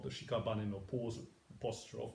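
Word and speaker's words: 屍: This, according to the commentary here, means shikabane. There's one syllable obviously missing, or maybe at Dogen's times you didn't need that syllable. It's shikabane today, and shikabane means a corpse.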